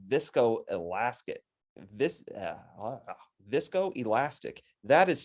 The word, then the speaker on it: viscoelastic: Vis, Viscoelastic. That is spelled wrong. I apologize for that. They are not visoelastic. They are viscoelastic.